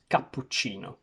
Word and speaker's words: cappuccino: The Italian pronunciation of this very famous word is cappuccino, but if I were to say it in English, I would say cappuccino, where I would remove the two double consonants. I would say O instead of O at the end, because in English we